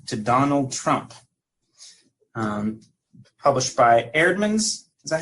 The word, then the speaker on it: Eerdmans: The Evangelical Road to Donald Trump, published by Eerdmans. Is that how you say it? Eerdmans, yeah.